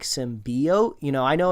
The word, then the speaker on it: symbiote: the trail that's that's pronouncing it symbiote like the lot of emphasis on the eye and I think most people call it like symbiote you know I know